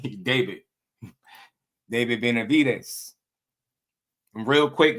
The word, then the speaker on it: David: You don't pronounce the name properly. David. You say it with a B. David.